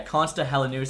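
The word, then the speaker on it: Konsta Helenius: Helen making the team I actually asked my finished friend Ken how to pronounce his name so yeah cona helenus I was saying it way wrong uh Frank naar there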